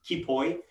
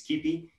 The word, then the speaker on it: Kipoi: So Julien has basically gone off to create this tool called, he mispronounced it, Kipoi, but in Greek it's Kipi.